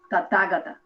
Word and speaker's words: Tathagata: May I just point out that the way that I have heard it spoken in India many times is the Tathagata. The accent on the second syllable, Tathagata, Oh, that's or whatever.